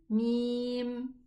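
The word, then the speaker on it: ميم: So this letter is Mim. And how do we read it? Yes. Me, mi, mu. I want you to louder your voice.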